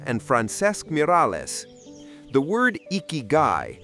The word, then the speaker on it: Ikigai: The word iky pronounced iky roughly translates to a reason for being or the value of life.